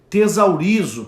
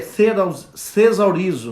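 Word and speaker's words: θησαυρίζω: Essa palavra, traduzida do original do grego, acumular, é tesaurizo. Parece, na verdade é thesaurizo, né? É difícil a pronúncia o TH, né?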